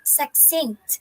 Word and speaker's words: succinct: we have here the word succinct okay it's pronounced as succinct when you say succinct it means a clear